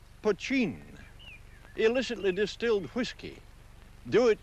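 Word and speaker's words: poitín: for the stuff that spelled potin and pronounced poin illicitly distilled whiskey do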